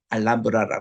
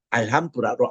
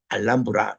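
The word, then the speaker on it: Alhambra: 알한브라 펠리스 읽잖아요 근데이 현지 발음은 알람브라 읽습니다이 뜻 자체가 붉은 성이라는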